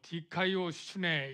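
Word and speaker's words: δικαιοσύνη: 여기 디카이오슈네 이런 발음을 가진 헬라어인데요.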